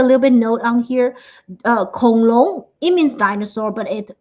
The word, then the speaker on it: 恐龙: For dinosaurs, we say Kong Long. And you can see I put a little bit note on here. Kong Long, it means dinosaur, but it can also be used as a slang.